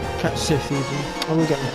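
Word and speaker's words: Cait Sith: Okay, so now we need to talk to Cat Scythe. Cat Sith even. I will get the pronunciation right.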